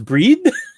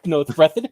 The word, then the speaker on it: Breathed: I thought it was breed, but it's Breathed.